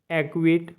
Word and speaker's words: acquit: सी silent रहता है आपका के और क्यू से पहले आ जाए तो। जैसे ACQUIT एक्विट मतलब निर्दोष ठहराना।